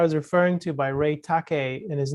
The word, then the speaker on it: Takeyh: And then the article I was referring to by Ray Takei, and his name is spelled Takeyh, sorry.